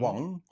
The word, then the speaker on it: Wang: How do you How do you say it in Chinese? What is the Wang? Wong. Wang. Yeah. So it's not Wang with that inflection. Wong.